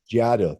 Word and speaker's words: Giado: You see people from the, I guess I think it's pronounced Jado or Jado concentration camps or work Giotto. Giado, thank you, in North Africa.